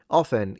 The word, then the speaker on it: often: And if it's wrong, it's wrong often. Yeah. Believe it or not, pronouncing the T in often is officially a no-go.